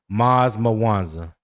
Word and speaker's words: Maz Mawanza: Maz Mawanza is his name. Okay. That's how you pronounce it.